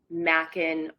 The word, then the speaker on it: Makin: Yes, Mackin like bacon. Okay.